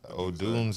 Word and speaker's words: Odunze: Is that how you spell it? Say it. Odunze.